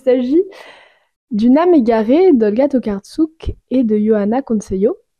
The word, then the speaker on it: Tokarczuk: d'une âme égarée d'Olga tokartsuk et de Johanna consceo il me semble que c'est comme ça à peu près que ça se prononce en polonais donc Olga tokartsuk et